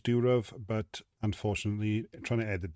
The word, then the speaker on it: Durov: Now, yes, I am aware that I pronounced the surname wrong. I think it's Durov, but unfortunately, trying to